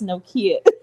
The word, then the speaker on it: Nokia: argue with you no more about how to pronounce it. I was like, if Drake says Nokia, then okay, it's Nokia.